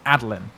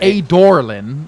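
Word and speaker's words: Adolin: assuming aderlin a dorlin isn't it spelled adeline a d o l i n adeline or at the very outside adeline not a doraleon like they pronounce it there's no r the worst when you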